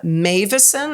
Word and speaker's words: Meuwissen: It's Dutch. That's why it's pronounced so uniquely than you might expect.